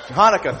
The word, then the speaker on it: Hanukkah: Christmas happy Han chanuka how do you pronounce that am I pronouncing that correctly Hanukkah thank you sir the guy took